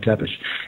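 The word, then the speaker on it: Țepeș: tell you in fact that Vlad Pepes is pronounced in their language it's pronounced teish te e p spelled te p s SP lad tepish and he was known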